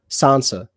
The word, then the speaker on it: Sansa: a as what say it again no don't spell it just say sansa so they have sansa which like is like